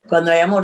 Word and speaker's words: Cuando Hay Amor: I'm probably going to hash the name, Cuando Hay Amor. Cuando Hay Amor, that was right. And that was released last summer. Well, the H is silent in Spanish.